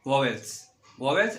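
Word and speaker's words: vowels: अधिकतर लोग भावेल बोलते हैं. ठीक है, तो भावेल नहीं होता है, इसका प्रोनाउंसिएशन होता है वॉवेल्स and second one is consonant.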